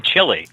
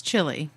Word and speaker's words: Chile: But do you pronounce your bowl of Chile like that too? No, that's chili. Or that. Wah, wah, wah. Chile is spelled Chile, which is completely different than chili.